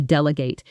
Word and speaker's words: delegate: For example, a good manager knows how to delegate. She doesn't try to do everything alone. Repeat. Delegate. Notice the stress falls on the first syllable.